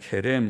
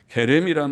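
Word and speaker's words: חֵרֶם: 히브리 말로는 케렘이라고 말하는데, 케렘 혹은 헤렘이라고도 표기하고, 케렘이라고 하는 발음, 히브리어의 거친 발음, 헤렘이라는 이 말은 특별한 뜻을 가졌습니다. 헤렘이란 말은 완전히 멸할 것이라는 뜻을 가지고 있어요.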